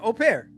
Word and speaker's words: au pair: So he's saying au pair.